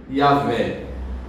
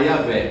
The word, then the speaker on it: Jeová: É porque biblicamente no hebraico é Yahé. Mas como não se podia pronunciar o nome santo de Deus, para evitar pronunciar em vão esse nome, adicionaram as vogais de Adonai ao nome Yahé. Aí ficou a pronúncia de Jeová, que a gente conhece por Jeová.